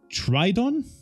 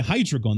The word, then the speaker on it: Hydreigon: We've got a Tridon? No, a Hydreigon.